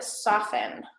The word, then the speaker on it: soften: the words fasten and soften okay we'll write those on board so fasten and soften okay so this t right here is silent all right so fasten